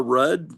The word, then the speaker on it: Rudd: I thought rude was pronounced like dud. His name Paul Rudd. Oh, I guess it is. I'm calling him rude.